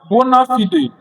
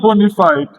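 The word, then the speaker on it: bona fide: Uh honorable member just correction it is pronounced bonafid not bonafide bonafid king's boys boys know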